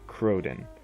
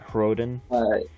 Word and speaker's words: Khroden: Khroden. The K is silent. For the Duergar. Yeah, the K is silent. Khroden. It's like the kind of raspy H. Khroden.